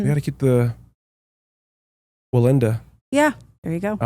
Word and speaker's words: Wallenda: We got to keep the Wallenda.